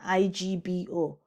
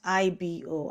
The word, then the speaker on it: Igbo: But it is not IBO, and it is written as IGBO, and also pronounced as Igbo. Igbo, not Igbo.